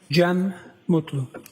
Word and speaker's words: Gem Mutlu: Jen Mutlu.